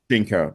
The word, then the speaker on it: GEANCO: So this Hollywood gala that you guys met at, this is a signature event for, is it pronounced GEANCO? GEANCO.